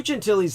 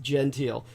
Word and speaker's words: Gentile: uh here we are lou gentilly's name was spelled like genteel you'd think it was pronounced genteel so it's blue like lou and genteel was gentile was spelled g-e-n-t-i-l-e so like genteel and uh so lou